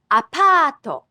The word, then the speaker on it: apato: An apartment is called apato. Apato. A department store is depato. Depato. Notice the Japanese also adds an extra syllable for English sounds that end with a consonant.